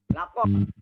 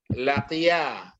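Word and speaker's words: لقي: Sebelum waw ini masuk, bagaimana kita membaca laqu itu tadi? Lakom. Bacanya laqiya. Jadi fi'il madhi untuk tunggal laqiya.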